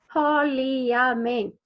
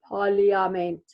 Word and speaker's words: parliament: or l i okay because you wouldn't expect there to be an a there but there's so if you look at it it looks like parliament parliament okay so we're going to